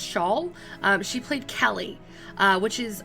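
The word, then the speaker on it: Schaal: for kristen i think her last name is pronounced shawl she played kelly which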